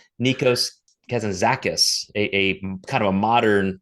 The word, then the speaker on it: Nikos Kazantzakis: I wanted to make sure I knew how to pronounce his name. It's Nikos Kazantzakis, a kind of a modern 20th century Greek philosopher.